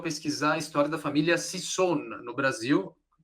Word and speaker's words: Sisson: E só concluindo a apresentação da Bárbara, ela descobriu seu interesse por genealogia ao pesquisar a história da família Sisson no Brasil. Pronunciei correto? Sisson?